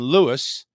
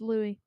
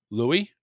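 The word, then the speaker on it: Louis: characters Princess Tiana and Lewis as they prepare for their first ever Mardi Gras huh it's Louie Louie yes well it says l-o-u-i-s is silent Louie as they prepare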